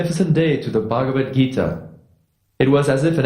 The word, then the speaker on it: Bhagavad Gita: great authors with the Bagita? I'm sorry. I know I'm not pronouncing that that name right. Your attempt at pronouncing the Sanskrit language was noble. It's Bhagavad Gita.